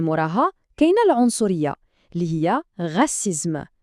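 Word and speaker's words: racisme: كاينه العنصريه اللي هي غاسيزم نعاودوا النطق غسيزم ممتاز واخر وده هنا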